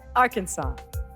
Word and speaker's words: Arkansas: you said Mississippi Mississippi Ken AR Kansas Arkansas I hope I'm saying it right Arkansas the correct answer is Arkansas okay and it's one